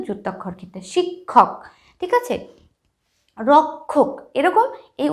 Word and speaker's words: রক্ষা: ক আর খ যেরকম এখানে আছে একটা শব্দ রক্ষা রক্ষা যুক্তক্ষর উচ্চারণটা আমরা কি যখন রক্ষা উচ্চারণটা কিরকম করছি